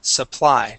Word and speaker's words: supply: let me yeah here here you would pronounce the word as Su suly using a long uh a long u sound uh here it is okay um but it is a short u we say s Supply try that Supply good